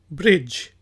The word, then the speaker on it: bridge: तो पहला वर्ड है जी BRIDGE, ब्रिज। ब्रिज पुल को कहा जाता है, इसमें जो डी है वो साइलेंट है, इसको हम ब्रिज नहीं कहेंगे, ब्रिज।